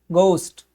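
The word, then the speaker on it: ghost: थोड़ा सा गोस्ट, गोस्ट करके, गो थोड़ा सा ओ की आवाज आएगी, ये बोला जाएगा किसमें, अमेरिकन में। लेकिन जब ब्रिटिश इंग्लिश में पढ़ेंगे तो ब्रिटिश इंग्लिश में इसको बोला जाएगा गोस्ट। गा पढ़ा जाएगा, ऊ पढ़ा जाएगा, आदाशा और फिर टा। क्यों, क्योंकि जो इंग्लिश है ब्रिटिश, ब्रिटिश इंग्लिश में जो ओ का जो साउंड है वो ओ नहीं बल्कि वो है औ।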